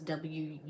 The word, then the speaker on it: Wunjo: It's spelled W-U-N-J-O, but it's pronounced Wunjo in the Elder Futhark.